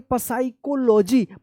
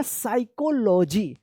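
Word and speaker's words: psychology: आप पढ़ते होंगे पसाइकोलॉजी। पसाइकोलॉजी ये गलत है, इसका सही उच्चारण है क्या? पी यहाँ पे जो है ना साइलेंट रहेगा, इसका सही उच्चारण होगा साइकोलॉजी। साइकोलॉजी क्या है?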